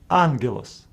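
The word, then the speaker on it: ἄγγελος: For Us to pronounce It as Agos we pronounce it as angelos anglish Angel G Together is about other letters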